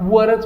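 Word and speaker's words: were: the children वर ्याला त्याला विअर म्हणायचं नाही याच प्रोनन्सिएशन खरंतर वर आहे विअर म्हणल तर अडचण नाही पण नॉर्मली तुम्ही जनरली काय करत चला वरच म्हणत चला द चिल्ड्रन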